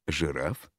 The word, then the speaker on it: жираф: а второй слог безударный слове жираф первый слог безударный а второй ударный поскольку ударение падает на звук а во втором слоге в некоторых случаях ударение